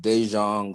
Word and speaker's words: Daejeon: My day yesterday started off with one of my spiritual daughters, who is, I think it's pronounced Daejeon, South Korea, and she needed an emergency reading about something.